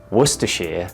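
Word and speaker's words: Worcester: of uh what the sauce and yes it's pronounced wor sauce as somebody that lives in the town that they make this I think I'm qualified for the job you're looking at werer source you're welcome and he's he's just like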